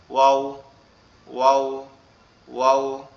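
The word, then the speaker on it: و: ওয়াওটা হচ্ছে আমাদের দুই ঠোঁট এরকম একটু গোল হয়ে যাবে, গিয়ে উচ্চারিত হবে নরম আওয়াজে, ওয়াও ওয়াও ওয়াও।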